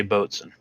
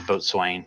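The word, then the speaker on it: boatswain: and if corley's listening i did say boatson he's a ex-navy retired navy and he corrected me when i was pronouncing it as a boat swain so told swain yeah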